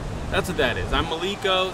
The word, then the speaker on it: Maleko: that's it okay now your name is spelled like but it's Malo tell me about that